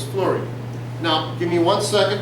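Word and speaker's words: fluorine: beryllium but very little here in flute because that's how you spell it but it's flurry now give me one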